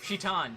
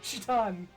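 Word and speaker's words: Citan: Shitan. Shitan. I know it's spelled Saitan, but that's a misromanization. It's meant to be Shitan.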